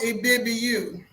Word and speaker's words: Ibibio: But it's pronounced Ibibiu.